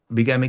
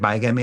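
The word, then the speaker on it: bigamy: तो उसको बिगामी का बिगमी के कारण उसको अलाउड नहीं हुआ यू can pronounce eight बायमी also but बिगमी इस करेक्ट वर्ड प्रोनाउंसिएशन एक से ज्यादा शादी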